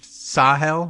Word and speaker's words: Sahel: my mom so hell so I I sue hell versus Sahel okay it's sa but what can you do all right so